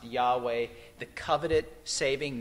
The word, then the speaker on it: Yahweh: he's invoking the powerful I am Jehovah or pronounced Yahweh the coveted saving name of he's also drawing